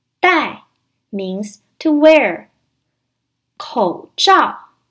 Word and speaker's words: 带: take or to bring it is pronounced in the fourth tone die in Chinese you use